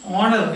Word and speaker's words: honor: But he honor H, and now you are honor. So he thought H is not pronounced.